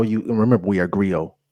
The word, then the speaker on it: griot: you remember we are Grio griot don't pronounce the T Grio we are Grio